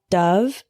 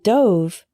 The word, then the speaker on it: dove: was only six desert dessert next we have Dove and Dove a dove is a type of bird for